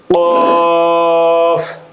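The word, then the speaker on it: ق: ফা ফা কফ জিহ্বার গোড়া উপরের তালুর সঙ্গে লাগিয়ে উচ্চারিত হয়।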